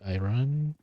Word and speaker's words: iron: Uh, this is iron impure. I never understood how it's pronounced in English. Um, like it's spelled iron, but it's the R is often not pronounced.